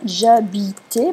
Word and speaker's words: j'habitais: on va avoir apostrophe j'habitais parce qu'on ne prononce pas le h en français quand j'habitais d'herbe du